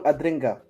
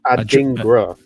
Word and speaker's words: Adingra: Simon Adringa. Adringa. Yeah, that's what I said. Adringa. Simon Adringa. I just didn't put the accent on the I. No, it's Adingra. Adingra or Adringa?